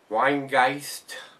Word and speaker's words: Rhinegeist: it uh but uh the uh the r is silent from uh basically what he said the the rain the RH i n is like Wayne and the guys is like German for ghost or something like that so told